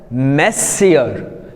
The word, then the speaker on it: monsieur: Then here the next word, this is the main, we have M-O-N-S-I-E-U-R. Usually people after saying this word like this, they pronounce the word as monsieur, which is wrong.